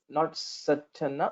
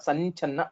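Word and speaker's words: सञ्छन्न: So this is not Sachanna, Sanchanna. This Nyakara, fifth letter of Chavarga.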